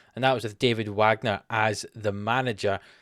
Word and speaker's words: Wagner: that was with David Wagner as the manager, or Wagner, I suppose is the correct way to say his name.